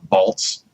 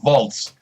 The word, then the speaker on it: Waltz: a movie show and you say Christoph bolts why I'm just I yeah you be the fab you like you almost corrected James it's christoph waltz hey I don't care